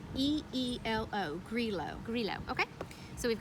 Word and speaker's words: Grillo: I think it's actually Grillo. I saw the pronunciation, and it's Greelo.